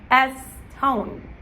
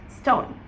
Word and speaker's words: stone: Now remember that the word stone as well, you don't wanna pronounce it as estone, you wanna pronounce it as stone, okay?